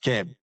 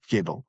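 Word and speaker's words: Kaeble: pronounced it in English his real name is Joseph Keb in in pronounc not not Keel anyway that's another story it's a German origin but uh you know they're French speaking for generations.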